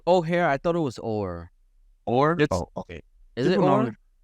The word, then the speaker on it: Oher: Okay, former NFL offensive lineman Michael O'Hare. Is it O'Hare? I thought it was Orr. Orr? Okay. Is it Orr? People pronounce it Orr.